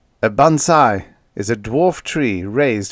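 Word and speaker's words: bonsai: Japanese all right but spelled with an S not a zed a bansai is a dwarf tree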